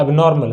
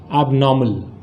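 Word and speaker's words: abnormal: लोग इसको बातचीत में जनरल भाषा में ऐसे बोला जाए तो बोलते हैं एबनॉर्मल, हालांकि ये गलत है। इसका जो सही उच्चारण है, इसको कैसे हम सही प्रोनाउंस करेंगे, तो इसका जो सही उच्चारण है वो क्या है? एबनॉर्मल।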